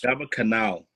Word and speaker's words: Gaba Cannal: Gaba Cannal.